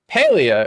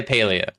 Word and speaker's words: Palia: I personally say Palia because I play with my pals, and the IA at the end makes it sound like a place like Russia or Asia. I personally say Palia, but I don't think it matters, really, how you say it.